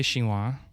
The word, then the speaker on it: Chinois: Have y'all been to Cafe Chinois? No. It's spelled Chinios, so Chinios is what it looks like, but it's Chinois, Mm-hmm.